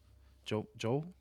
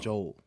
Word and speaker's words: Joel: the fact that you see Pedro or Joel, is that how you pronounce it? Is it Joe or Joel? I don't know. Joel. It's with a L.